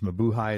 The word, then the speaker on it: Mabuhay: Mabuhay is spelled M-A-B-U-H-A-Y, Mabuhay Gardens.